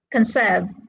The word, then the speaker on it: conserve: you can see that two syllable words are stressed on the second syllable we say present conserve these are two syllable